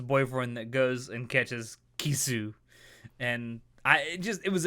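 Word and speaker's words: キス: of fish called a ki-suh fish and ki-suh sounds a lot like the English word for kiss well actually they're their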